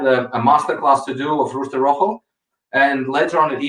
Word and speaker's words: Rooster Rojo: Do I pronounce correct? Rojo? Rooster Rojo.